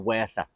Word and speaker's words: Werther: Goethe wrote a book called The Sorrows of Young Werther, or Werther. Werther as in Werther's Originals with a W, but the Germans pronounce it with a V.